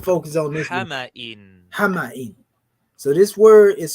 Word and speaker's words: حمإ: Hama'in. So this word is spelled H-A-M-A, right?